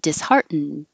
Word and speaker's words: disheartened: you say dish heart your tongue goes to the T position but you won't hear the D if you're just saying the word disheartened and you will hear the D if there's a vowel after it I was disheartened upon